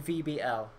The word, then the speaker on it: VBL: So, it is pronounced the VBL. Yeah, there we go. Makes it easy. We got it right. Oh, I still prefer V-Ball.